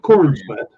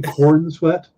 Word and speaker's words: Corenswet: uh into so David Corn Smith yeah and you you kind of need to pronounce the e in corn sweat because if not is David Corn sweat and corn sweat sounds